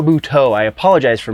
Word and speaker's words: Buteau: River guyo and Mike Michelle bhuto sorry Michelle buteau I apologize for mispronouncing